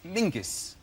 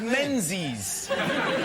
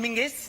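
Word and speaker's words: Menzies: And although his name is very odd, his name is Mingus. Mingus. Yes. Goss. Yeah. Ming. Yeah. But it's pronounced it's it's spelled M E N Z I E S.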